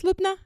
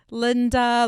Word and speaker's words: Lubna: is worth robbing so my first name is lubna it's quite straightforward can you say it two syllables lubna yeah i get called all sorts of things linda lubina nosy cow you know